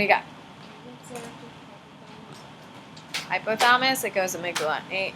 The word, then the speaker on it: amygdala: Hypothalamus, it goes amygdala. Amygdala is what it's spelled like.